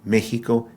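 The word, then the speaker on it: México: in a few words the letter X is actually pronounced like an English H in the word house or haha or hey so Waka Meo Hima Waka Mexico Hima him inaka mexo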